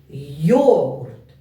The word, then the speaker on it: йогурт: слові два Склади і поставте будь ласка наголос йогурт йогурт наголос падає на перший склад на голосну о йогурт два склади молодці